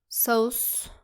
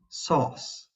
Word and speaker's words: sauce: When we have the letters au, some students can say it sauce. It should actually be sauce. sauce just like the word so again do not